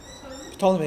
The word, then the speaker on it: Ptolemy: Ptolemy, well, how do you pronounce it? Ptolemy, yeah.